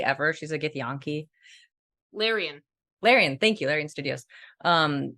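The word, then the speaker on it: Larian: her name correctly ever she's a gethianki lyrion larion thank you larion Studios um I don't know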